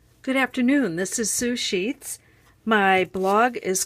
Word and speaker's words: Sue Scheets: sushi comes from well if you say my name really fast sue sheets sushi sushi it sounds like sushi so I kind of